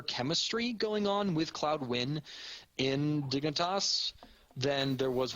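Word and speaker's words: Nguyen: discussed like having Cloud win. That's how you pronounce that last name, Win. I have a friend with that last name. So it's spelled Nagulian. You pronounce it Win.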